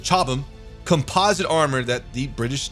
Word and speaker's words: Chobham: It goes on to say that with its Chobham, but I believe the British pronounce it Chobham, composite armor that the